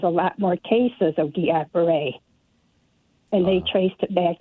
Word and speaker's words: Guillain-Barré: I had Guillain-Barré. That's how you pronounce it.